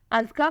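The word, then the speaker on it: Azka: बोलना यह A Z K A है, अज़का फातिमा।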